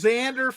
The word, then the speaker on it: Xander: with Flanders Ned Flanders it rhymes with Ned Flanders Xander Flander Bogarts now a padre yes